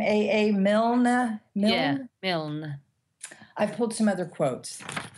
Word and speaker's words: Milne: Yeah, Milne.